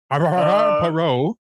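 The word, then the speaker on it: Poirot: Perot.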